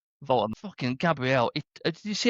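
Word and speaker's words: Woltemade: It's V, even though it's a double, it's a V, isn't it? Voltemade.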